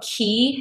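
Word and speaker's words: Quay: matter these are from Key sunglasses and key is spelled q a y and these are the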